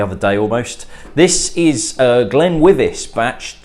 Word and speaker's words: GlenWyvis: It's GlenWyvis, not GlenWyvis, and I want to make sure that things are done correctly.